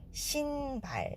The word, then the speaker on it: 신발: 자, 여기서 신은 쉰 이렇게 sh 발음으로 하지 않고 신발 이렇게 발음하시면 되고, 발의